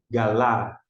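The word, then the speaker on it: גלה: G com a g. L com a lá. E esse re não pronuncia. Galá.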